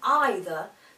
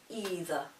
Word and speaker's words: either: One point I will make here is that the words either or neither sound much better when pronounced with the I vowel rather than the E sound. It is considered that either sounds much nicer than either.